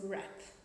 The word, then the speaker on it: wrap: We learned one pronunciation tip, that whenever we see the letter W before the letter R, we don't pronounce W.